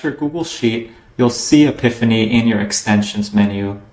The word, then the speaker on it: Apipheny: add-ons and search for The Epiphany add-on which is spelled API p n after you've searched for